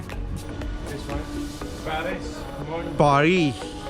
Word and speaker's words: Paris: पारी, एस is silent buddy, it's पारी।